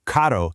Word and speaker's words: carro: So, caro means expensive, but a double R, well, that's that famous rolling Spanish trill. So, carro means car.